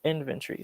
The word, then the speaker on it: inventory: inventory water better so inventory so words that usually end with a t o r y tend to have ten the o tends to drop and it becomes three